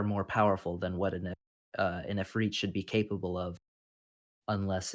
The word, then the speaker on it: Efreet: Well, it has an I at the end, so Well, pronunciation. well, it Ephridi? also well, it also Efreet. does Okay, depend. it's Efreet.